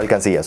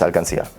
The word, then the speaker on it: alcancía: They called it alcanzille, or alcancilla, sorry, with a and so in Spanish it's alcancía. Okay, آخر واحدة almacén.